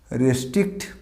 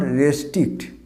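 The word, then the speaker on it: restrict: নিয়ন্ত্রণ করা, এই ওয়ার্ডটা দেখো তো, আমরা এটাকে কী বলি, রেস্ট্রিক্ট। নিয়ন্ত্রণ করা, রেস্ট্রিক্ট। This is নট রেস্ট্রিক্ট, উচ্চারণটা হবে রিস্ট্রিক্ট, নট দ্য রে, উচ্চারণটা হবে রি, রিস্ট্রিক্ট।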